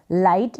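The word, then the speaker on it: light: GH का उच्चारण pronunciation इस लाइट में नहीं हो रहा है। इसको आप लिट नहीं पढ़ सकते हैं, या फिर इसको आप GH को घ तो रीड कर ही नहीं सकते हैं, कोई सेंस नहीं बन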